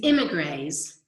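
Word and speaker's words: émigrés: When they caught him and put him back in, so first, remember these immigrants, and I say grays because in French, this accent over an E is pronounced like A.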